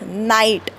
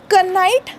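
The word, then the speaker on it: knight: म्हणजे शूर योद्धा दट इज नाईट ओके कनाईट नाही जुन्या काळात त्याला कनाईट म्हणायचे पण आता नाही म्हणत किंवा नीट म्हणजे विणकाम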